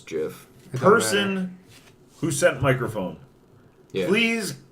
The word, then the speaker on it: GIF: the Spanish I guess if the creator says it's jiff person who sent microphone